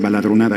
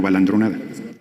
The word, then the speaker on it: baladronada: en el idioma español la palabra correcta es baladronada y no balandronada hoy gracias por su